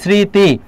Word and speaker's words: স্মৃতি: ব্যতিক্রম হচ্ছে যদি ছয়ের মতো উচ্চারণ হয় তাহলে দন্তস্ব বহাল থাকবে। যেমন আমরা যদি এখানে লিখি স্মৃতি, তাহলে দেখো স্মৃতি এখানে ছয়ের মতো উচ্চারণ হচ্ছে, এই জন্য দন্তস্ব বহাল থাকবে, স্মৃতি।